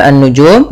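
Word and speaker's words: النجوم: Lafal annujum di sini ada alif lam syamsiyah yaitu alif lam yang ditulis tapi tidak dibaca. Kita langsung pada lafaz dzal langsung ke nunnu.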